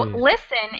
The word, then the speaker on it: listen: missing the d so listen is spelled with a t but the t is silent it's a really tough